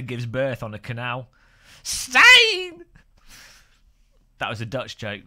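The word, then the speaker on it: Stijn: Just say my name right. Stain 324. Was that right? Like stain remover. I mean, look, if you've got a J, put before the last look a J and then an N. It's ridiculous. It's the most absurd name to pronounce ever. How does S-T-I-J-N pronounce stain?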